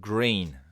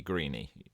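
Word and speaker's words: Greene: to pronounce that one although it's got an e on the end it's not going to be greeny I know that it's green Robert Green and it's narrated by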